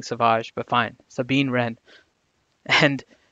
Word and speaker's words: Savage: like doing the pronunciations he's so Savage Opress to me but I've been converted to saying Sauvage but fine Sabine rent